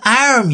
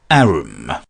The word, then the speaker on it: arm: "Sure, it's an arm, your honour." He pronounced it arum.